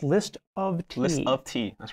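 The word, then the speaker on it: List<T>: to point out this right here list it's pronounced list of tea list of tea that's right right now the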